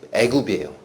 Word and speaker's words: 애굽: 영어 발음이 에집트 나죠. 우린 이집트라고 하는데 영어 보신 분 알아요. 에집트. 그거를 트 발음 빼면 애굽이에요.